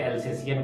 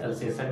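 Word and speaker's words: Alsatian: उसे उसका गलत प्रोनाउंसिएशन में बहुत सारे लोग उसे अल्सेसियन कहते हैं, बट दैट इज अल्सेसन डॉग.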